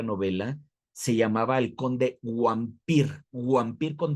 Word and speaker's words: Wampir: se llamaba el conde Wampir, Wampir con W, ¿no? Porque acuérdate, la W en Europa se pronuncia como B, es vampir.